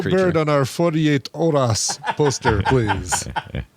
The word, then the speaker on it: horas: bird on our 48 horas poster, please. Horas. Horas. Is that how you'd say it? Probably. Yeah. Yeah. At least they did it. You would not pronounce the H.